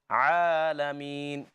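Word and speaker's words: العالمين: It's just one count. So I'll read that for you. Alhamdulillahi Rabbil Alameen. Alameen. Just as long as it takes to open a closed finger.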